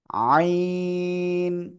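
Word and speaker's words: ع: জগা খিচুড়ি হয়ে যায় অনেকে বলে আইন আইন কিংবা আইন এভাবে বলেন কিন্তু না এভাবে বলা যাবে না বলতে হবে কেমন খেয়াল করতে হবে কিন্তু এই যে আমার একটা হাত দেখেন ঠিক আছে দেখেন ভালো করে আইন অর্থাৎ একটু বাঁক হবে আওয়াজটা আইন আইন চারিদিন এই গলার মধ্যখানে হালকা চেপে বাতাস বন্ধ করে আপনার এই অক্ষরটা উচ্চারণ করতে হবে এ অক্ষরে কিন্তু কোন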